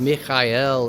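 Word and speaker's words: מיכאל: And uh it would be pronounced Mikael in Hebrew. And Mikael in Hebrew means who is like God.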